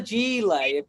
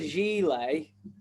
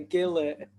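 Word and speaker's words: gilet: no longer in the 90s it's called the g-lay and you ever have you ever have you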